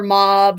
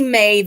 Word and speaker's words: Maeve: um some call her mob some call her mauve or whatever it is and you know different versions of her name and whatnot to me maeve is a pretty good pronunciation um uh it was